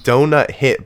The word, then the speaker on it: Douthit: I think it's like donut hit, but it's spelled DOUTHIT.